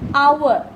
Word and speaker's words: hour: So where here where the h is silent, we are pronouncing it as hour. So the pronouncing sound is what? O.